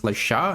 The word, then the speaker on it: Le Chat: own AI tool called Lasha. And yes, it is actually pronounced Lasha, not like Chad because it is a French company.